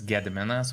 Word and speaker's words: Gadminas: of the name uh my actual name is Gadminas which is like four syllables But you can also